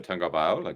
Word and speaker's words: Tagovailoa: There's not a G, but no one knew that there was a G sound.